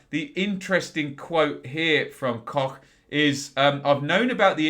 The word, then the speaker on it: Koch: And this is Robin Koch. I'm told that is how it is pronounced.